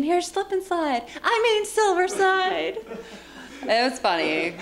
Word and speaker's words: Silversyde: and you said not to say it but silverside yes but yeah what was that story again because you told somebody don't pronounce it slip and slide right yeah we're getting ready to go on